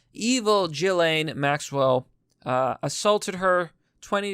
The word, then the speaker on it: Ghislaine: though i keep saying i keep saying gifts lame what a stupid name the s is silent evil jillaine maxwell uh assaulted her